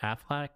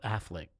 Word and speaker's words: Affleck: I think that's how you say it, right? Afflac. No, Affleck. Yeah, Ben Affleck.